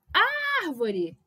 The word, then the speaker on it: árvore: Árvore. Se eu gritar, se eu chamar a árvore, a antepenúltima é tônica.